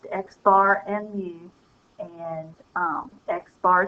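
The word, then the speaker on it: x̄: right now but just know that they are pronounced xar and mu and um xar is for the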